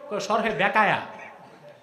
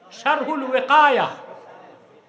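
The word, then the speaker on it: شرح الوقاية: শরহে বেকায়া। শরহে বেকায়া কিতাব নাই তো, শারহুল ওয়াকায়া, শারহুল ওয়াকায়া, এটারে বলে শরহে বেকায়া।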